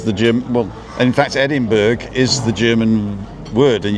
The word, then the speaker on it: Edinburgh: Well, in fact, Edinburgh is the German word, and you just say Edinburgh because you're English. Most Americans pronounce it Scottish. Edinburgh as well, but where you say burg, we say borough.